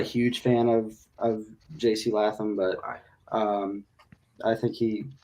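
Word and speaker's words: Latham: Cowboys taking JC what how do you say his last name laam JC laam okay I was wrong um yeah what I've heard we've heard it both I I wasn't thinking either I said latam oh wow sorry my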